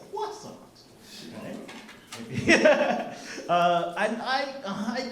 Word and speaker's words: croissant: See uh the French are really sticklers on pronunciation. So it's not croissant, it's quasant.